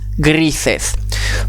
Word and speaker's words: gris: Dernière couleur de cette deuxième catégorie, le gris, gris, grises. Pas de difficulté particulière, hormis que bien penser que le S se prononce S et pas Z. Donc gris, grises.